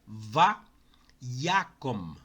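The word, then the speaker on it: וַיָּקָם: Então, o primeiro exemplo é va-yakom. Va-yakom. Neto, tu pronunciaste Yakom. Não é Yakom, não? Não, gente, é Yakom.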